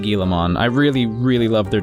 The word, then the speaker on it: Guilmon: I mean, even if you're not trying to pronounce the at the end, if you try to say Guilmon, it's kind of just sounds the same.